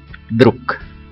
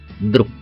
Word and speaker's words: Друг: Và tương tự như vậy chúng ta có từ Друг. Друг. Chúng ta đọc là Друг. Kết thúc từ thì bằng chữ G nhưng mà chúng ta sẽ phát âm là chữ K.